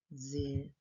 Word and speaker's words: exercício: Exercício. Na palavra exercício está faltando um X, porém eu leio como se fosse um Z.